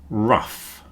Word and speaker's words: rough: The next group is uff, rough, tough, enough.